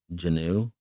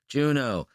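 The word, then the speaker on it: Juneau: to say it uh Janu yeah this J Juno that's right that's how you say it thank you I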